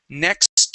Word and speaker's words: next: With the word next, make sure to pronounce the T at the end of that word, okay? So we're going to try in that park below us next to the lake.